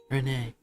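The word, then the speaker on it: Renne: Apparently in the voice acting it's pronounced more like Ren.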